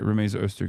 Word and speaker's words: Rumeysa Öztürk: I keep saying her name wrong. Okay, no, I did say it right. Rumeysa Öztürk is the person.